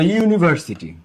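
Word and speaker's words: university: ইউনিভার্সিটি যখন তুমি উচ্চারণ করতেছো, তখন ইউটা কিসের মতো উচ্চারিত হয়েছে বলো তো? ইউটা তখন ইউ এর মতো উচ্চারিত হয়েছে। ইউ ইউর মতো উচ্চারিত হয়েছে, ইউ ইউই হয়েছে।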